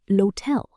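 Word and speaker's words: l'hôtel: L'hotel, the hotel. L'universite, the university. Even though hotel begins with the letter H, the H is silent, so the rule still applies.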